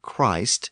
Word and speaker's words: Christ: Since a word like Christ is a single syllable, it tended to retain its long sound.